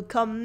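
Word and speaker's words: quand: ko ko means when in french there's a silent d at the end and the u is silent as well co for example jo dorme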